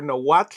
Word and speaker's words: Nahuatl: to pronounce, but this one was in the Nahuatl language, or Nahuatl if you want to pronounce it correctly, and a lot of people didn't know how to pronounce it.